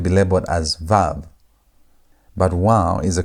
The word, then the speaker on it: vav: In the older traditions, especially Seemitic linguistic and biblical studies, it's often called wow with a W sound. Though in modern Hebrew today, it's usually called vav with a V sound.